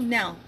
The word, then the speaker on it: Nelta: Nelta. Would it be pronounced as Neil? No, Nell.